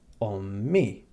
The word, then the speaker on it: omi: But adding the letter e to the end of it, which is how we pronounce the letter i in maltes, makes the translation my mother.